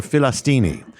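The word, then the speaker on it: فلسطيني: the way you say the way you pronounce it in Arabic they don't call themselves Palestinians they call them they pronounced philistin or filistini literally it's the word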